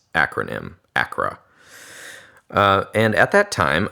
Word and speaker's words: ACRA: reinforcement program otherwise known as Acra it's it's pronouncing its acronym Acra uh and at that time oddly once again